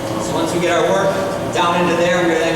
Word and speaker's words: wort: It will strain out all those grains from our sugary water, which is called wort. W-O-R-T. It's spelled, pronounced wort though.